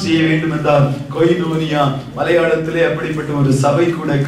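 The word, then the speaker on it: κοινωνία: அதை ப்ரொனவுன்ஸ் செய்ய வேண்டும் என்றால் கொய்னோனியா மலையாளத்திலே அப்படிப்பட்ட ஒரு சபை கூட காணப்படுகிறது.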